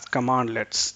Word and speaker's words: cmdlet: So CMDLEts are pronounced as Commandlets.